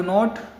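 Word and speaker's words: know: आई डू नॉट नो। नो means जानना। के एन ओ डब्ल्यू। समझ में आया? ये के साइलेंट हो जाएगा। नो लिखा जाएगा इसको।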